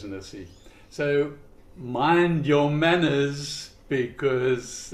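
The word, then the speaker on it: Nisse: So, the Christmas don't know how you pronounce that in in America. N I S E Nissi. I don't know. I guess so. Okay. Uh so we certainly pronounce it here as as Nissi.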